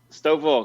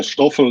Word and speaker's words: Stoffel: Stoffel, can you hear us? And also, did I pronounce that correctly? Yeah, it's I can hear you. It's fine. Yes, and yeah, Stoffel is my name, kind of nickname.